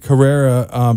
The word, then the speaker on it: Carrera: Carrera, pronounced like the Porsche Carrera. That's the best way to remember it.